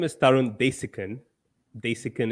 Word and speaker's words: Desikan: Desikan is how we pronounce it back in India, but I'll take what you give me then.